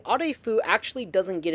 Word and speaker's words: Arefu: So, if my Romanian pronunciation is okay, the proper pronunciation would be a fu. However, some of the characters in Fallout 3 simply say Arfu. Some of them say Afu, some of them say Arfu.